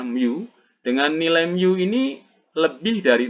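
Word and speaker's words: μ: koefisien gesekan dengan ini Miu Hah timbulnya micro tetapi dibacanya Miu dengan nilaimu ini lebih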